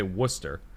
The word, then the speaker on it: Worcester: college uh was uh we'd say worcester it's spelled w o yeah yeah yeah so it's i honestly forgot the r was even in it um so like